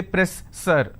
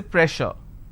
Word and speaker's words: pressure: word which is pressure just because i have 2s i can't say press sir i can't say press sir so here double s will become sure sound so i say pressure all right so you